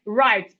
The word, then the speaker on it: write: But when I say right, what can you hear first? You can hear R, okay? That means the W is silent, and we need to master these words.